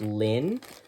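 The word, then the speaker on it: Llŷn: we're working on is I believe it's PR pronounced just just Lynn Len Lynn these are from the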